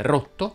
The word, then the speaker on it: rotto: Fanno eccezione le parole rotto, sotto e ghiotto che si pronunciano con la O chiusa.